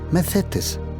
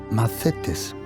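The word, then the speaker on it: μαθητής: ceteo y la otra macetes lo repito la primera se llama maceo se escribe con TH pero la th en griego se pronuncia como más la segunda palabra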